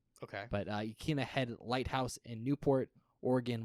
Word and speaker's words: Yaquina: Apparently, the Yaquina, I believe that's how you pronounce it. It's Yaquina. Okay. But Yaquina Head Lighthouse in Newport, Oregon, was also used